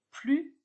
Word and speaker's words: plus: avez peut-être remarqué que je prononce plus et non plus le s de plus dans ne plus ne se prononcent pas si je dis plus